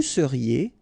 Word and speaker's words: seriez: Vous seriez, EZ at the end, et seriez. Il serait, so ENT not pronounced.